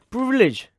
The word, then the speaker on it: PRVLG: But today's episode has been sponsored by Privilege, which is basically privilege but spelled without the vowels, because that is how all the niche and luxury brands are spelled.